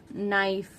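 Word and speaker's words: knife: नाइफ, के silent है।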